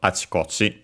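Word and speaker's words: あちこち: the meaning of achikochi, accented on the chi, the first chi, because it's a compound, and we have seen that's a typical on the last syllable of the first part of the compound is a typical spot for those strictly Japanese compound.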